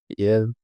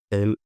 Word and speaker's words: el: few minutes ago because in some words, "e" is pronounced like "yeah." I know it might sound strange, but if you speak to someone like this, eu mănânc, el, ea, el, ea, of